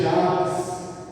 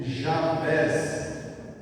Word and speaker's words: Jabes: E foi Jabes mais ilustre do que seus irmãos, e sua mãe chamou o seu nome Jabés. No início do versículo está Jabes, né? E aqui Jabés. As duas pronúncias estão corretas.